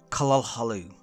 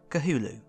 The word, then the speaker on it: Cthulhu: The true way to say that being's name is, as closely as I can manage it anyway, Cthulhu. That's really hard to say, especially repeatedly through a video like this one, so I will be using the pronunciation I more commonly fall back on, Cthulhu.